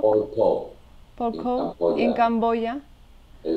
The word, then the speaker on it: Pol Pot: Pol Pot? Pol Pot.